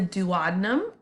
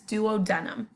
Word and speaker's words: duodenum: It's called the duodenum or sometimes duodenum. You can pronounce it either way.